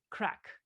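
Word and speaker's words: craic: well they have a special word called crack it's good crack i think there are people over here in new jersey that say the same thing but for other reasons i believe i believe it's spelled c-r-a-i-c it's a it's a cracking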